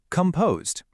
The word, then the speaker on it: composed: How about composed? See, this time the weak part is right at the beginning. It's not a sharp come, it's more of a lazy come. Composed.